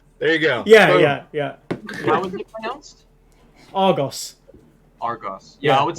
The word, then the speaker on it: Argos: live in the UK we have a retailer called Argos which is how we pronounce it but just hearing an American say Argos it just sounds so oh so like a thing here's the thing my